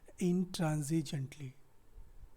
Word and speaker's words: intransigently: अगर आपको syllable नहीं पता, you can never count the number of syllables present in this word intransigently, right?